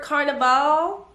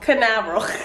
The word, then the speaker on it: Canaveral: We landed at Port Carnival. Carnival? How do you say that? Canaveral. Port Canaveral in Florida.